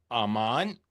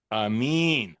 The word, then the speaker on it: Aramin: I'm here with Robbie Demolin and Basam Aman. I mean, they are both I pronounced your name wrong. And Amin, I'm from Brooklyn, New York, so you got to excuse me, of course.